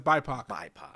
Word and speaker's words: BIPOC: No, I mean I've always heard it as BIPOC.